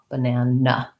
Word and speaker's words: banana: talk about syllable stress it has second syllable stress and even though it has three letter a's it has the schwa in the first syllable sounds like ba and it's short then i have my clear banana and then another schwa banana so in the dictionary